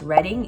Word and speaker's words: Reading: I am 99.9% sure it's pronounced Reading, even though it's spelled reading.